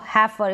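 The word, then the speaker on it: heifer: फिर है ई आई को ए और ए के रूप में पढ़ते हैं। अब यहां पर इन स्पेलिंग्स में इ आई है तो हैफर। इसको पढ़ रहे हैं हैफर और इसको पढ़ रहे हैं लेजर। हैफर और लेजर। जैसे ये ऊपर ए की मात्रा है ना? ए की मात्रा है यानी कि ए है। क्या है? इ आई का उच्चारण ए।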